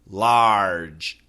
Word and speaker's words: large: L-A-R-G-E, large, large.